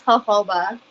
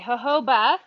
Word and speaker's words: jojoba: bah I've heard it I've heard it both ways but I think it's Huff oba okay jojoba thank you yeah then